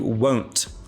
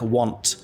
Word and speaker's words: won't: careful with the pronunciation it's a long o sound you won't be happy sometimes people who are learning English they say it like want like you want be happy but that's